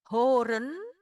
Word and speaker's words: horen: Misalnya, "horen," "ho" dibaca panjang karena tidak diakhiri dengan konsonan.